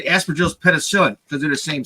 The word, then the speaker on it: Aspergillus: Well, I always pronounce it aspergillus, thinking that maybe the G is quiet.